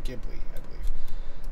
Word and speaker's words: Ghibli: knows different movies obviously but same it's studio ghibli that's how it's pronounced but yeah very I think came up